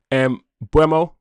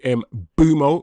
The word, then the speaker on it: Mbeumo: So, let's change Bruno for M Bremo or should I say M Bumo, which is what he how he likes his name pronounced.